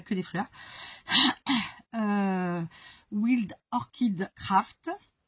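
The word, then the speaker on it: Wild Orchid Craft: B que des fleurs wild orchide craft comme ça se prononce en anglais évidemment wild W i l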